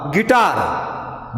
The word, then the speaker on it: guitar: In the word guitar, GUITAR, here letter U is silent.